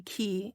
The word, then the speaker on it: ki: learning just how widely key is used in languages around the world often referring to Life Energy it is also an alternate pronunciation for Chi life force or Life